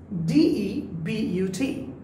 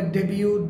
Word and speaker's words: debut: The first word, D-E-B-U-T. অনেকে বলে ডেবিউ, ডিবাট, ডিবুট, is debut, right?